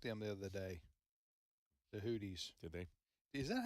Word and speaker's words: Houthi: And the Houthis, have been also attacking U.S.